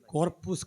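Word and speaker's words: Corpus: നടത്തും അപ്പൊ അങ്ങനെ അപ്പൊ കോർപ്പൂസ് ക്രിസ്റ്റി സി ഓ ആർ പി യു എസ് കോർപ്പൂസ് കോർപ്പസ് എന്നല്ല ലാറ്റിൻ ഉച്ചാരണം എന്നാണ് കോർപ്പൂസ് ക്രിസ്തി ഒന്ന് പറഞ്ഞേ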